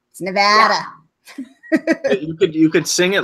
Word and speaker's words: Nevada: you sing about it corrected immediately upon moving here on how you say it because I used to say Nevada it's no bad Nevada you could sing it